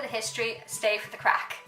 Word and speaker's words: craic: history, stay for the crack. Not that crack, a different crack. So this crack is spelled C-R-A-I-C, which basically is the Irish for fun.